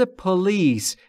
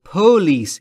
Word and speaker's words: police: به پلیس. دقت بکنید دوستان، تلفظ پلیس استرس روی ال و روی پی نیست، یعنی نباید بگید پلیس، این اشتباهه. پلیس اینطوری درسته، در واقع استرس روی ال روی بخش دوم.